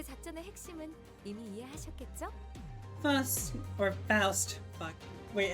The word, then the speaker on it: Faust: So, how do I pronounce this name? Please. Faust.